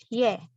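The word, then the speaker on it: ㅒ: gadis yang sama ditambah huruf y jadi yae cuma bacanya ye Oke huruf ketiga untuk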